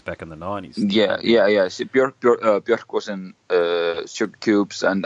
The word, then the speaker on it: Björk: And the cliche here is going to be Björk, because I think, or Björk, I think that's how you pronounce it, her name, isn't it?